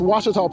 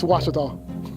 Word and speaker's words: Ouachita: Get it right. It's Ouachita, people. It's Ouachita. Ouachita.